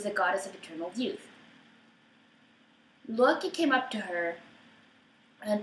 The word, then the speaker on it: Loki: going to tell but I am going to pronounce the name Nam um as I feel are correct in the Icelandic way so I will say Lu instead of low key so you know this